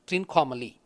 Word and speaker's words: Trincomalee: with a triangle is Rico anomaly which is pronounced in English as Trincomalee hence I thought that this base mate represent